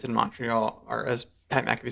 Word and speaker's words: Montreal: won obviously it's in Montreal or as Pat MC said mreal yes with no T I agreed Pat by